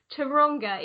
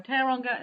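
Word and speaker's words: Tauranga: get it wrong but you're from Tonga in New Zealand which I know I've said totally wrong so you say it right no that's absolutely fine teranga New Zealand is perfect we know that 52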